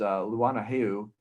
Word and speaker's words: Luana Heu: So Mrs. Luana Heu is how you pronounce her name.